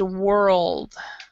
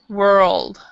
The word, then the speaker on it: world: the second one is world word world word yeah and you're sounding you're making it sound like the first one because you're not saying the l so um i'm taking